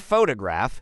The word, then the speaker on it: photograph: For example, in the word photograph, the stress is on the first syllable, PHO2 graph.